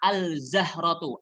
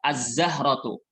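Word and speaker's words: الزهرة: Azzahra artinya bunga jangan bacanya al zahrotu al zahrotu salah tapi yang benar langsung masuk Alif lamnya tidak terdengar alif lam nya tidak terdengar saat dibaca azzahratu kemudian berikutnya as samabu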